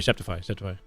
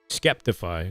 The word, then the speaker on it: Skeptify: No, sorry, Septify. Skeptify is how they say it.